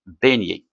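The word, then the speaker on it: beignet: beignier B e i G n e t beigné alors le son e accent chapeau auss se prononce et et bien on dit accent circonflexe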